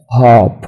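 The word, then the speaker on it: harp: طيب هنتكلم على اول حاجة قريبة مني اللي هي الايه الهاب القصارة، هنقول this is a hop. اوكي لاحظوا كده انا بنطق ان the letter r has no sound تمام.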